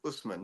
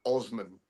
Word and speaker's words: Usman: if you're a Jew from New York, you would, instead of saying Usman, you would have said Osman.